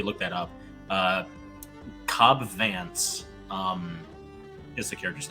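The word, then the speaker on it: Vanth: i guess oh so like it's supposed is pronounced vance even though it's spelled band i guess his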